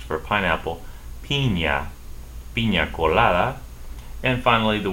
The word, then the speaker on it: piña: The word for pineapple, to make a pina colada, as we say in English, is pronounced for pineapple, piña.